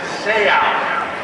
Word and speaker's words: Seau: you say your name he said it's seoul because when i tackle someone they say out and what a lasting